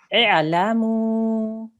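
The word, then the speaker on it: اعلموا: The third letter is a lam with a fatha on the top. So what stroke will we put on this alif? A kasra. Excellent. So we will pronounce it like this.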